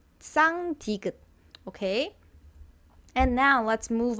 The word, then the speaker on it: 쌍디귿: So you would feel it kind of touching on the back of your front teeth. And try to breathe it out while putting your tongue over there. Then that's basically how you pronounce 쌍디귿.